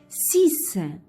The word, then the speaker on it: six: 6. Le X, il se prononce S à la fin.